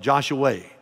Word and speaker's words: Joshua: That's spelled Joshua, but they call it Joshua, Texas, just south of Fort Worth.